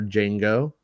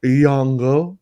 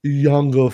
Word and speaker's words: Jango: who portrayed fett's father django or yongo if you uh want to say it correctly yango fett and the star